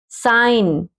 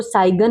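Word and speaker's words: sign: साइन, साइन means संकेत, कि इसके जो साइन है वो ये है, इस तरह से। साइन क्या है, संकेत, इसको साइगन नहीं पढ़ेंगे, साइन।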